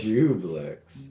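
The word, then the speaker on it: Juiblex: So I guess it'll be pronounced Dwiblex. Joyblex. Dwiblex. I'm calling Not it necessarily. Jublex. There's juice. I'm calling it Juiceblex? Jublex. Jublex. Yeah. Jublex. Yeah, no, that's Jublex. Jublex.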